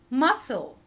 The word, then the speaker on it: muscle: Castille tone camel come the exception for this rule is the word muscle muscle letter C here and this word is not followed by E or I or Y and it's